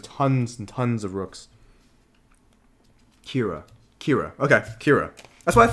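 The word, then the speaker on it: Qira: Kira. Okay, Kira. That's what I thought, yeah. Kira. Like Star Wars, except it's spelled very differently.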